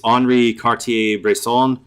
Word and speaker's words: Henri Cartier-Bresson: but his name is Henri Cartier-Bresson. He's from France. So, of course, every single letter is unpronounced, and it's like, well, there's more letters in this name than is actually pronounced.